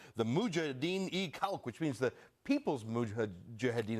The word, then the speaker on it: Mujahideen-e-Khalq: Let me pronounce this right. The Mujahideen-e-Khalq, which means the People's Mujahideen of Iran.